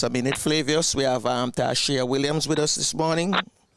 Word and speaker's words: Tarshea: So I want you to tell us, who is Tarshea Williams? I think I pronounced the name right? Tarshea, it is.